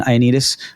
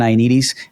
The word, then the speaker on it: Ioannidis: It's John Ioannidis. John Ioannidis.